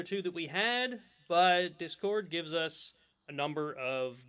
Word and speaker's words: Discord: it right this time you normally say discord description you stress the second syllable but you're saying i think you've been trying hardly it's discord and and it didn't